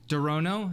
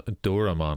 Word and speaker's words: Doraemon: Dorono? Is that how you say it? No, Doraemon, I think it is.